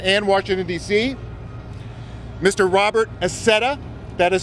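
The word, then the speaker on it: Accetta: Robert Acetta, that is spelled A-C-C-E-T-T-A.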